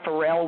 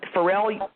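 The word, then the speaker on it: Pharrell: it's called happy and Fel is is spelled with a p p h a r r l and honey let me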